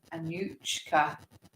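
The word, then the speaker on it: Anouchka: field then Vegas and then Terry Blair and Anushka that's how you pronounce it a new cap I didn't know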